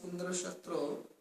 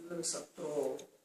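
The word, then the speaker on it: इन्द्रशत्रु: But in that case, you have to pronounce Indra Shatru with stress on the last vowel. It has to be Indra Shatru, or has to be that. But what they pronounced it as Indra, as the Adi Uddata, the first. And then E of Indra as high.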